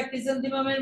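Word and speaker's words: chrysanthemum: করতে হবে আজকে আমরা ক্রিসেন্থিমামের মানে সবাই জানলাম আগে উচ্চারণটা দেখো ক্রিসেন্থিমাম ক্রিসেন্মা সি এইচ আর ওয়াই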